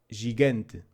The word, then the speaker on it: gigante: Like C, G has a different pronunciation when it is followed by E or I. It works the same way in English, but in Portuguese it loses the slight D sound before the J.